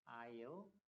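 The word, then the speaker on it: aisle: 이 S가 묵음이야, 묵음. 묵음이라는 건 발음이 안 된다는 얘기야, 발음이. 그래서 뭐라고 해? I'll. 섬하고 발음이 똑같아.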